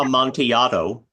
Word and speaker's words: Amontillado: Amontillado.